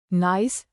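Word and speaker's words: gneiss: Nice pronounced nice is a metamorphic rock formed from granite.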